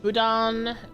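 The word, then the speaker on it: boudin: Uh, budan, pronounced budan, is an iconic soft textured Cajun sausage.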